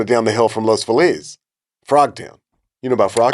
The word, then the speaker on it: Los Feliz: The correct pronunciation would be Los Feliz. Yeah. Or Los Feliz, like the happies. Like Feliz Navidad, yeah. But everybody calls it Los Feliz.